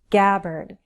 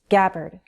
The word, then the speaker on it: Gabbard: Gabbard, with a short A and an sound, Gabbard. Sanders, with a Z sound at the end, Z, Sanders.